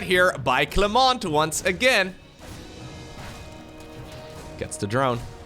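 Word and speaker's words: Clément: But anyways, they get a little bit upset whenever I pronounce the T in the name Clement. Clement.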